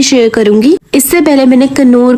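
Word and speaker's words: Knorr: और आई नो कि बहुत से लोग कहेंगे कन्नौर नहीं होता नौर होता है, तो भाई मैंने बहुत जगह प्रोनाउंसिएशन इसके चेक किया, हर जगह कन्नौर आ रहा था।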